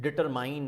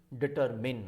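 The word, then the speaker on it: determine: कि यार यह कि डिटरमाइंड बोलते हैं बट दोएस नॉट डिटर रिमाइंड करना होता है दिस डिटरमिन होता है अगर ठंड एसिड डिक्टम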